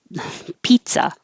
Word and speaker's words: pizza: say pisa they put a t in there and say pizza so i used to teach this as remember it's pizza nice guy pizza nice guy um